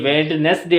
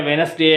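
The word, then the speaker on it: Wednesday: पर खामोश है और यहां पर डी भी खामोश है हैंड कर चीफ होना चाहिए वेडनेसडे होना चाहिए सैंडविच होना चाहिए नहीं यहां पर इसके डी खामोश होने की वजह से हैंड करर चीफ है वेनस डे और सैंडविच हो जाता है यहां पर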